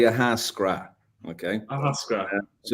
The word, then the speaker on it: Ahascragh: um the locals say aasra okay aasra so you don't pronounce the GH at the end a lot of Irish